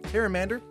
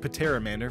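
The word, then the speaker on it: Pteramander: here we have a harem and ER I pronounced it with a the P last time where's like Patera manor but I think if the P is silent like pterodactyl the one mana one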